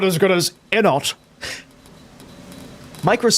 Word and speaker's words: Enot: Not as good as Enot. Micro's saying that the way you pronounce Enot, is it weird that you pronounce Enot with a silent T like depot?